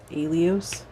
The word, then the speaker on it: Elios: out of the ether alias elios spell that think like helios but without the h oh okay where does